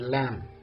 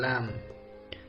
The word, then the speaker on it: lamb: in cone limb and lamb listen again cone limb and lamb silent letter is B very good let's go